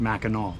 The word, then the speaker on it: Mackinac: So we found out, even though Mackinaw Island is spelled like Mackinac Island, it's pronounced Mackinaw.